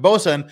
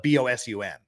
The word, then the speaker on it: boatswain: be a picky poop boatswain is pronounced bosun uh it's been short